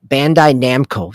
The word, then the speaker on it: Bandai Namco: it doesn't sound right bandai namco there we go i was putting the the co in the wrong word that's why it didn't